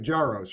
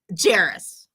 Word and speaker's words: Jaros: your last name right jaros right jerus oh jerus I'm sorry like Harris I screwed it up